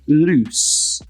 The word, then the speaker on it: loose: So when it's with one O, it's a Z sound. So lose. Whereas when it's with two O's, it's an S sound. So it's loose.